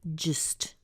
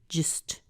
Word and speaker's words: just: back and get it just is often reduced as well so we end up with a little schwa there too and we have just just just notice it's not